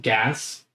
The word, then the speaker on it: Gaz: This man's name is Gaz. Gaz. Gaz. G-A-Z. Like Gaz. another way to pronounce jazz. Gaz. Gaz. With the G. Okay. With a G.